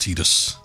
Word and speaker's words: Tidus: And the English commercial did say it was pronounced Tidus.